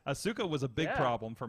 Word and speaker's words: Asuka: balor for a while on my monitor and asuka asuka asuka was a big problem for me because i've